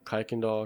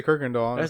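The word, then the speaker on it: Kirkendall: __ ] I I I've heard it pronounced different ways like kiken doll Kirk doll I always say Kirk doll me too yeah that's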